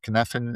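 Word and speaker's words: Cynefin: Kneffen is spelled C Y N E F I N.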